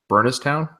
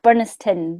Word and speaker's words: Burniston: be pronouncing this wrong burnesstown close enough burniston burniston all right so i was pronouncing town literally yeah burniston yeah i